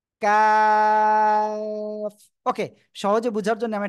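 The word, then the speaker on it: كاف: এই যে তাই না জিহ্বার গোড়া থেকে একটু আগে বাড়িয়ে এই যে একটু আগে বাড়াবেন বাড়িয়ে উচ্চারণ করবেন কাফ ওকে সহজে বুঝার জন্য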